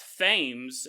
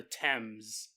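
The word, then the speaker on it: Thames: it the times and because I knew it wasn't pronounced fames and then uh when I was editing I looked it up it's called the temps but uh that's just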